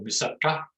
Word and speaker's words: moussaka: I can tell you now can cook an awesome moussaka, or moussaka, as I'm meant to pronounce it.